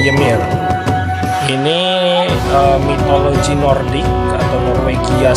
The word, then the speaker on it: Ymir: Judul gamenya adalah Legend of Ymir ya, dibacanya Ymir.